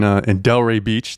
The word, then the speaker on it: Delray Beach: I'm here in Delray Beach. That's how you pronounce it, right? Yeah.